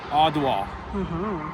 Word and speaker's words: Adwa: All right, everybody, welcome to the, and I believe I'm saying this right, Adwa Victory Memorial. The first A is pronounced like the A in father.